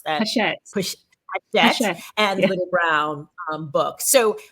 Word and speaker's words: Hachette: by Hachette, or you told me how to pronounce that. Hachette and Little Brown book.